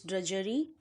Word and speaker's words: drudgery: read the word ok because the pronunciation is little bit tricky here des silent pronunciation is drudgery ok now let's see the